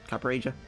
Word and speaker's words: Copperajah: our copper agile kappa roger said it's pronounced copper aja a project ATP deck